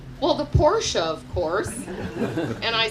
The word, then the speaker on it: Porsche: is listening right now Porsche in case you didn't know it was now and is forever a two syllable word so ray did me